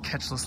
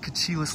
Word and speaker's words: Catchless: out that this is called catchless lake as in catch less fish i've been calling it kachilis lake for many years now